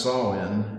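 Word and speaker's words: Samhain: Celtic harvest festivals, including the the Gaelic festival Sawin, which is spelled Sam Hayne, which always gets me when I try to pronounce it, but it is pronounced Sawin, and you heard him pronounce it in the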